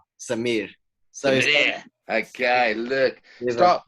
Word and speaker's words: Samir: A lot of people say like Samir, but it's actually pronounced Samir. You got to roll it up. Samir.